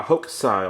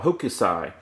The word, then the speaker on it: Hokusai: My brother is a big Starry Night fan, and this section right here is the Great Wave by Hokusai, or Hokusai, depending on what pronunciation you prefer.